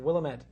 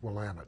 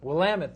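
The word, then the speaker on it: Willamette: state Carlton in Minnesota another swing state and willamet and Oregon another swing state actually it's pronounced willamet willamet thank you very much having been to Oregon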